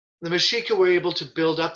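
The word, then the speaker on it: Mexica: which included absorbing other nearby mashika settlements again mashika m-e-x-i-c-a and secure its position within the hierarchy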